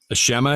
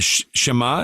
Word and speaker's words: Shema: Like, for example, do you know what the Shema is?